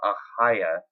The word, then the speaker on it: Ahayah: The name is pronounced Ahaya in Hebrew. That's Ahayah for English spelling.